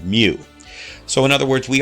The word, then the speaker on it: mu: dipole moment is represented by the letter mu pronounced mu so in other words we always could put